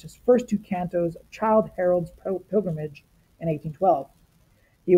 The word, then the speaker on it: Childe: And yes, it's spelled with an E, but really it's like Childe Harold, like the little boy Harold.